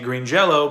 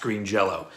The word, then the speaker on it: Green Jellÿ: end of it, but the umlaut means it's still pronounced as an O.